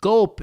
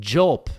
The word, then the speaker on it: gulp: old friend 99 tweeted friendly reminder that gulp is with a hard g i once said jelp as my bullies were